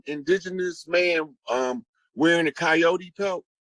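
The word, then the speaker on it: Kiote: whose totem is the coyote and it's it's um it's spelled that way and it sounds like coyote or coyote but it's a tribe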